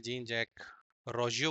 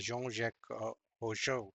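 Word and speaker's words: Jean-Jacques Rousseau: बट यह French है। इसका जो नाम प्रोनाउंस किया जाता है मैंने देखा online that is अ योंक ओशो करके हमें बोलना चाहिए।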